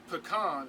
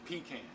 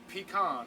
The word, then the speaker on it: pecan: right here last night pecan slash pecan is pronounced pecan not pecan so that word is pronounced pecan not what it is let's say butter butter